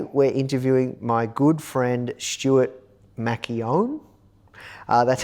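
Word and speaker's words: Stuart McKeown: And today we're interviewing my good friend Stuart Macchione. That's how you pronounce his name.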